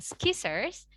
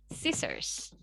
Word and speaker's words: scissors: Atau kita bilangnya scissors. Nah itu juga salah ya, bukan scissors, melainkan scissors. Kemudian otot.